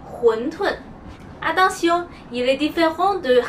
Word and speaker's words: 馄饨: La prononciation de wondun est en cantonais. En mandarin, on dit huntun.